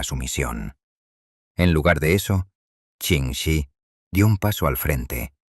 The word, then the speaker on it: Ching Shih: La nueva y absoluta comandante suprema de la flota del Mar Rojo, Ching Shih, pronunciado Ching Shih, comprendió de inmediato que el caos interno era su peor enemigo.